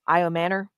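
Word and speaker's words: Ayomanor: Iomanor. That's how you say it. and the men. Iomanor.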